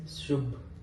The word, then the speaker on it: Subh: But how do you pronounce BH? So it's Subh.